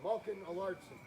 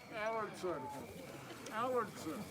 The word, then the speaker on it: Alardson: Amanda Spencer, Heloise DeBeck, Michelle Harris upon York, and Malkin Alardson. Allardson. He's putting the emphasis on the wrong syllable.